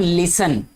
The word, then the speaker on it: listen: तो इसको पढ़ते हैं हम लिसन, ठीक है। लिसन केयरफुली स्टूडेंट्स, टीचर्स भी अक्सर बोलते हैं ये। लिसन में कौन सा टी साइलेंट है बेटा जी, ठीक है।